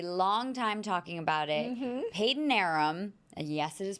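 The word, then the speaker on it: Padanaram: Peyton Arum. And yes, it is pronounced Peyton Arum.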